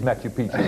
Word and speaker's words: Machu Picchu: It is Machu Picchu.